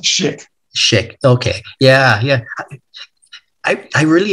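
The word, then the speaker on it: Szyk: Yeah, it's pronounced Schick.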